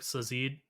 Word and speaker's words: Sazed: All Gotta right, say, I knew from the first book, Sazid. Is that what how you would pronounce say his Zed. name? Sazed.